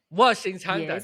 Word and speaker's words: 卧薪尝胆: Washing Changdan.